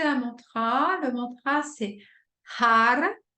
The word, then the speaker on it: Har: hop on va s'asseoir bien confortablement on va prononcer un mantra le mantra c'est har H a r har H a r e